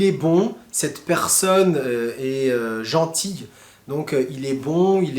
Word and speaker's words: gentil: Par exemple, gentil et gentille. Attention, gentil et gentille, c'est vraiment différent. On l'entend dans la prononciation.